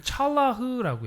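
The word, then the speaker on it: צלח: 뭐라고 읽냐면 찰라흐라고 해요.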